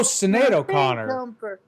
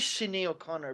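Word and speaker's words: Sinéad O'Connor: she is Nothing Compares oh Cado Conor okay her name is Shino Connor but okay whatever how you call it how do you say chenade okay first of all who's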